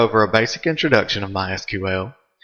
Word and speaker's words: MySQL: as you can tell I've been calling it MySQL that is the correct pronunciation however it is also commonly called my